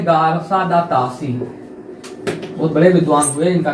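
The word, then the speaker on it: Garcin de Tassy: विद्वान का जन्म होता है जिनका नाम है गारसा दा तासी। फिर से उच्चारण करना भी जरूरी है क्योंकि नाम थोड़ा सा टफ है। गारसा दा तासी का जन्म होता है जिन्होंने हिंदी साहित्य के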